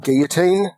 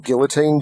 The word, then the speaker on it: Guillotine: So games like Guillotine or Guillotine, depending on your pronunciation.